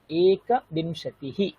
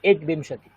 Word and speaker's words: एकविंशतिः: एकविंशतिः। আমরা কখনোই বলবো না একবিংশতি, এরকম কখনোই বলবো না। কি বলবো? এক। বলেছি না, কয়ের পূর্ণ উচ্চারণ করতে হবে আমাদের।